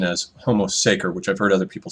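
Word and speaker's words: homo sacer: Seer um I think the correct pron pronunciation of homo secer is actually homo Sater uh but I find that harder to say so I'm going to stick with the pronunciation as homo saer which I've heard other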